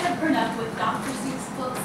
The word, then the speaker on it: Seuss: This is the story of Theodore Seuss Geisel, yes, pronounced Seuss and not Seuss.